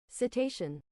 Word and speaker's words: cetacean: Cetacean.